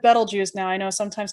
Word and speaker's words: Betelgeuse: right here is called rigel now i said betelgeuse now i know sometimes called people pronounce it as beetlejuice but it's better juice but hidden within the constellation orion if you